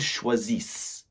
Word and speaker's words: choisissent: Just like with the -er verbs, we're not pronouncing that -ent. So, they are choosing would be ils choisissent or elles choisissent.